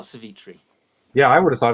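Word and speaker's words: Savitri: india and it's like well how do i pronounce this you know so there's the story of um uh cevitri you know and i always thought oh it's savagery and it's not it's it's uh it is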